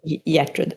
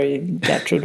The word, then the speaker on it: Gertrud: So, in Swedish, it's just a soft G. So, it's like Yetred, but it could be Gertrude or Yetrude or whatever.